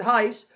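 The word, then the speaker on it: εἷς: all for you one ace esti in christo yeesu here paul uses ace masculine singular you can pronounce it heist to refer to multiple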